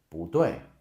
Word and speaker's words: 不对: Again, that's not how you pronounce it. It should be 不对.